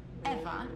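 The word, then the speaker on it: Ewa: Besides, Eva is spelled E-W-A, not E-V-E.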